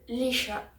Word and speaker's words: Laoise: Ils ont une fille qui s'appelle Leisha. Ça s'écrit Laoise, d'accord?